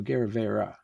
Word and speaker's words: Agerrevere: No, Agerrevere. In Spanish is an E sound at the end.